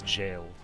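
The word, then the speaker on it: gaol: think i know i i don't know how to say that it's like gall which is jail oh interesting okay yeah they love old timey words like that yeah no it's pronounced as jailed okay i blame kogi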